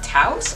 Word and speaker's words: Taos: this is my signature go to blush it's taos and that's how you say it t a